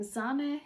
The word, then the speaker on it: Zane: So I am Zane, and you say it like Mane, and I'm a big football fan, and as you can see, I am a Liverpool fan as well.